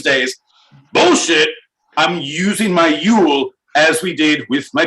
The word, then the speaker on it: Yule: It's spelled Juul, like our favorite electronic cigarettes, but pronounced Yule.